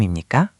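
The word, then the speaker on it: 입니까: Be careful with intonation. With imnikka, you want a clear rising question tone at the end. Seonsaengnim imnikka?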